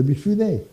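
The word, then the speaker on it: Mifune: d'acteur de Toshiro mifounet à la fin de mifounet oui ass c'est n founet on dit ou je le prononce à la française un acteur qui joue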